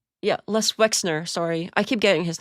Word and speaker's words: Wexner: Because Les Wexter, yeah, Les Wexner, sorry, I keep getting his name wrong.